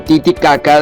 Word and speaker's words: Titicaca: Hay que pronunciar ambas sílabas caca dentro de la garganta. El lago llamado Titicaca, donde está la isla,